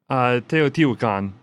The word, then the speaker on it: Teotihuacan: That's the Teotihuacan or whatever. Oh, yeah. Okay. Andrew, how do you say that? Teotihuacan. There we go.